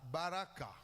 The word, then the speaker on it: baraka: Baraka. Baraka, ça dit B-A-R-A-K. Vous mettez l'accent là, vous mettez H.